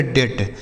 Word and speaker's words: debt: आगे लिखा DEBT, इसे पढ़ेंगे डेट। बच्चों इसे डेप्ट नहीं पढ़ेंगे, यहाँ पर जो बी है यह साइलेंट है, मतलब इसे नहीं पढ़ा जाएगा।